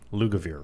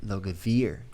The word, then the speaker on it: Lugavere: Lugavere. Lugavere. Like it looks.